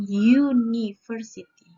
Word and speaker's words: university: Oke, universitas, if we pronounce, ketika kita mengucapkan kata universitas dalam bahasa Inggris, kita mengatakan university. Mengatakan university.